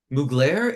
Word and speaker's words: Mugler: She was member of, wait, I'm saying the name wrong. Is it Mugler?